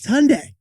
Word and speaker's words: Hyundai: of that car company Hyundai just like Sunday it's Hyundai not Hyundai